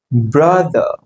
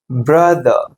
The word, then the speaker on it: brother: Brother. Brother. நம்ம எப்படி சொல்லுவோம்? Father, mother, brother. No. So you have to pronounce these words or words as mother, father, brother.